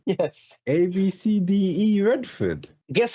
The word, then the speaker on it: ABCDE: ABCDE Redford. Guess how you pronounce it? Abcde.